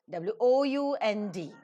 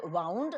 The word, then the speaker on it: wound: W-O-U-N-D. As a verb, it is pronounced as wound. The winding machine, wind, wound, wound.